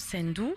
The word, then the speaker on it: Ssendu: Elle s'appelle Sendou, S-S-E-N-D-U, mais on prononce Sendou.